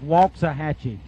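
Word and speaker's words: Waxahachie: second round shab said it's pronounced walks a hatchet told you he's a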